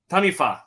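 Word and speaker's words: Taniwha: And former players Tim O'Malley with Tasman Mako and Blake Hohaya plays for Northland Taniwa. How do you say it? Tanifa, thank you.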